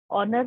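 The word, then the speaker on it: honour: ऑनर रहेगा जिसके आगे जिसका स्पेलिंग एच से स्टार्ट होता है but because it is pronounced with N sound of O, that is वाई वहां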